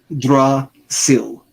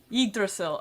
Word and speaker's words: Yggdrasil: Archie's focused on however the fuck you pronounce that. Yggdrasil? Something. I'm close. That's fine. Yggdrasil. Yggdrasil.